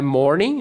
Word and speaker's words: morning: My morning, não pronuncio o G.